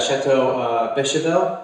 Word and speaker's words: Château Beychevelle: We're at Chateau Beychevelle. Is that pronounced correct?